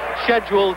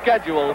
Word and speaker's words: schedule: too peaceful for this schedule 12 rounder uh I apologize for that London pronunciation but that's what they taught me to say at school in Americans call it schedule but I'll try and